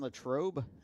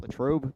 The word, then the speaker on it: Latrobe: Vincent College is in Latrobe, is I guess how you pronounce that, Latrobe, Pennsylvania.